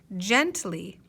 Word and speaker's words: gently: i see ly now if we're not sure if this is the heart or soft g we could try both and then listen to ourselves and see which word makes sense ready let's try the